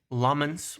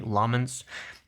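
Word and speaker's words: Lammens: Benjamin Šeško being a young player, Lomans, we finally have his name pronounced correctly, Lomans, being a young player, but it was looked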